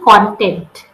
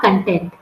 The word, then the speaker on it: content: so it will be content content means yeah not content spelling is the same but pronunciation and meanings are different uh content means a